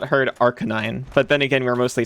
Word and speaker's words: Arcanine: One of those freaks that pronounces that big dog as Arcanine. Arkan9. That's how I say it. Arcanine. Yeah. Arcanine. How else would How else would you say it? Because it's an arcane canine.